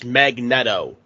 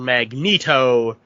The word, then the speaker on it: Magneto: thing is that uh it is the proper pronunciation of the word but it is always weird hearing this character referred to as magnetto yeah I I don't like it and I